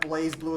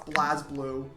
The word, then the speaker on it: BlazBlue: I don't want to hear about fucking pronunciations after I found out that Blaze Blue is pronounced BlazBlue.